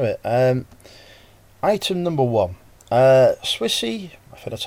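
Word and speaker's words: Swisse: get straight into it and item number one Swissy that's how you say it woman's ulti vitamins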